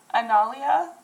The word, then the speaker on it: Analia: because it looks absolutely ridiculous um but it's pronounced analia and it spelled a-n-a-l-i-a obviously I don't know